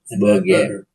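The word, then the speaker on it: Berger: Burger.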